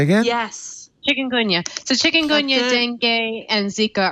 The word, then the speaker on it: Chikungunya: dengue fever, and I don't know how to pronounce some of the other viruses that mosquitoes can transmit. Say again? Yes. Chikungunya.